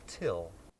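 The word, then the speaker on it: Thgil: It's spelled T-H-G-I-L, but it's pronounced Till.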